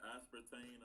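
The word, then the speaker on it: aspartame: 40 milligrams of this espart how do you pronounce it? Espartain like aspartane.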